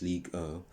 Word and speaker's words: Ligue 1: Because when PSG made those signings, they were not caring to win the Ligue 1. That's how it's pronounced in French, Ligue 1.